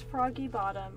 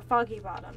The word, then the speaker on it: Foggy Bottom: moment so yeah so that's froggy bottom or Foggy Bottom not froggy bottom I keep saying it wrong Metro Central so if